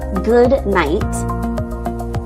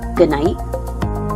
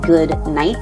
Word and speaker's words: good night: Good night is often pronounced actually good night. So we don't really say good night, it's more just good night. See, I'm just closing off that sound for night.